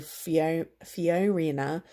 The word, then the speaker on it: Fiorina: ben Carson and Carly Fiorina can never pronounce her name properly but it's FIO RI na only those three candidates